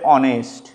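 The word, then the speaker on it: honest: না এইচ দিয়ে বললে অনেস্ট এটা কিন্তু ও দিয়ে শুরু হচ্ছে কিন্তু সামনে এইচ আছে যার উচ্চারণ হচ্ছে না কে দিয়ে বললে নি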